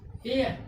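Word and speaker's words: heir: इसमें क्या था रूल में, यदि किसी भी वर्ड के शुरू में H आता है तो H क्या हो जाएगा, साइलेंट। यहाँ वर्ड के शुरू में H आया तो H क्या हो गया, साइलेंट हो गया तो कितना का हम लोग प्रोनाउंसिएशन किए, एयर, यानी EIR, एयर।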